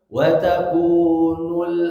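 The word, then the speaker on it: وتكون: Nah, termasuk ayat kelima, wa takunul, hati-hati lamnya tipiskan bacanya hadirin. Wa takunul, nah tidak nul tapi wa takunul jibalu kal'ihnil manfush, alirkan shinnya.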